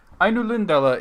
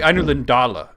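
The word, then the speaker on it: Ainulindalë: Ainulindala is correct. Well, actually, Ainulindala is correct.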